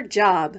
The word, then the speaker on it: Job: Ruth shouts 1-2-whee before going off to her job, which in the Bible is pronounced Job.